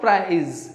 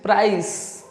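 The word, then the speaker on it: price: Then प्राइस, प्राइज कई सारे से मिस प्रोनाउंस करते हैं, वो इसे प्राइज बोलते हैं, बट इट इज नॉट प्राइज, इट इज प्राइस, प्राइस।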